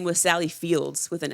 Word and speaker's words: Sally Field: and someone mentioned like it's Sally Field, not Sally Fields and I was like wait what? It's a good thing you saw that post before we started recording. You would have said it wrong. I definitely would have said Fields for sure. And I was like oh like I've been saying it wrong this whole time. But anyway, Sally Field to be clear.